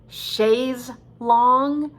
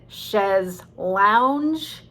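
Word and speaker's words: chaise longue: chest long but um actually we're not sure how to pronounce it is it shays long is it she's lounge my my solution is i'll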